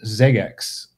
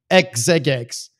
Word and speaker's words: Xeggex: but to be clear it's a palindrome and it's spelled x e g gex and that's how and is pronounced Zex and so that you